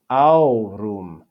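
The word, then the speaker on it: aurum: e is a diphthong next we have au rum this is two syllables even though there are three vowels in the word there are only two syllables because ah and oo form a diphthong and are read as one syllable next we have the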